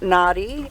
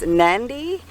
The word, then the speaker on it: Nadi: Okay, so it's not nadi, it's nandi. So it's the N that you can't see. It's not denaru, it's denarau.